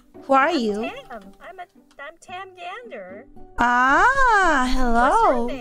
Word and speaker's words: Tam Gandr: It's Tam Gander.